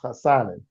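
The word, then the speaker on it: Hassanein: I'm gonna mess up that Hassanin. poor guy's name for Okay, his. so this is what we're gonna call him. So his last name is actually pronounced Hassanin.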